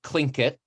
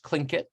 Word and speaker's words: Tlingit: this region, and that language and culture is called Tlingit in English, or in the language itself is Tlingit, but people usually pronounce it in English Tlingit.